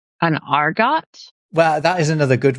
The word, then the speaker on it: argot: Are you talking about like an argot? Well, that is another good one. That's a different thing. That's a French word, but we don't know where the French word comes from. Sometimes pronounced argot.